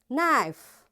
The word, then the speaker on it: knife: K is silent when it comes before N. So wherever in a word you see K is there and right after K the next letter is N, you will not pronounce this K. It will be silent like in words no,